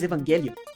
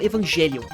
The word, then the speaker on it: Evangelion: de Evangelion e não Evangelion? Muitas pessoas me perguntam isso, e a explicação é muito simples. Em japonês, eles pronunciam o anime assim, porque o nome do anime vem do grego. Evangelion é uma palavra do grego.